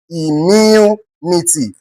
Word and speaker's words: immunity: you are expected to stress a particular word on the third syllable, starting from the end of that word.